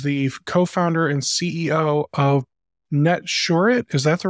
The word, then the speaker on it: Netsurit: and Orin is the co-founder and CEO of net shet is that the right way to pronounce it perfect perfect I like hearing that